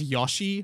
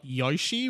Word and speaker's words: Yoshi: I pronounce Yoshi, but everyone in Australia says Yoshi, not Yoshi, which is how they say it in America.